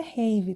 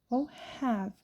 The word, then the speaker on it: have: que eu me lembre não é rave tá vocês podem pronunciar essa palavra como have um pouco mais com som de ar ou e né no caso é né mas não rave tá bom não pode ser rave igual a Apple aproveita